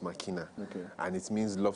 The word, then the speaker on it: machina: machina love ex machina the makina looks like mashina but it's pronounced makina okay and it means